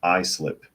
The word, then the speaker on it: Islip: have kids and New York Patriot says it's pronounced Islip oh okay so it's not Islip it's I